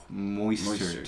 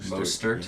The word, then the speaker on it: Mostert: Moistert. Moister. Mo- Like more moist. Moistert. I don't know how to pronounce it.